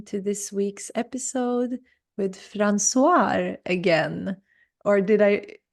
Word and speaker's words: Françoise: Hi, everyone, and welcome to this week's episode with Françoise again. Or did I say that right? Can you say your Yeah. name more beautiful than I did? So with Dutch pronunciation, it's Françoise. Françoise, so beautiful.